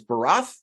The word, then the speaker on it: Barath: appreciate it now forgive me uh the correct pronunciation of your last name is baroth correct uh it's Hungarian it's instead of the